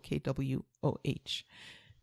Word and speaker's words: Kwoh: It's spelled Kwohtations. And it's a play on Janine's last name, which is Kwoh, Kwoh.